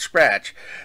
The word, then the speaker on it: SCRTC: There's also Miki Masaki, a major executive at SCRTC, pronounced Scratch, the company that makes